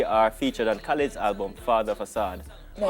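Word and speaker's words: Father of Asahd: The three are featured on Khalid's album Father Facade. No, you have to say it like him. Father of a sword.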